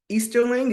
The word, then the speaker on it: Easterling: to be interviewing easterling is that your last name I want to make sure I say it right yes that's correct want to make sure